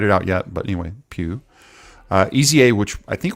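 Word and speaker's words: pueue: TW iare you to pronounce it Pew like Q is it okay yeah well that's how I'm pronouncing it that's what it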